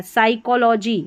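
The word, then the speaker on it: psychology: साइकोलॉजी यहां पर देखिए हिंदी में उच्चारण है। स पढ़ा पी एस को साइकोलॉजी क्योंकि पी जो है ना वो साइलेंट है।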